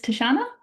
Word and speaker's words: Tatiana: My name is Tashana. As you can see here, it is spelled differently than it is pronounced.